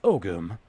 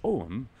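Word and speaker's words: Ogham: Oklahoma this right here o gyum pronounced oakum modern Irish ohm or old Irish ogum is an early medieval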